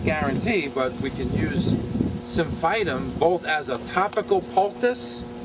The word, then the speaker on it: Symphytum: But once she got the cast on, this is called Symphytum. That's the Latin. Okay? Symphytum. S-Y-M-P-H-Y-T-U-M.